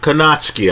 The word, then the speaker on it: Kownacki: Kownacki, I understand he pronounces it. Forgive me on the pronunciation.